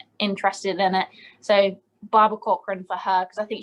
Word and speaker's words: Corcoran: Barbara Corcoran.